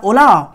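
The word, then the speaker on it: Hola: silent इसको ध्यान दीजिएगा ओला में क्या है एच साइलेंट और ये स्पेनिश है this is नॉट अ यू कैन से नॉट a Britain this is not from UK this is ओला व्ट्स न्यू ये क्या है स्पेनिश है और आजकल ये एनसीआर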